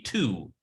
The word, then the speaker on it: Tu: And you can see that's 15, and if you pronounced it, it would be 2, tet, u, the u sound.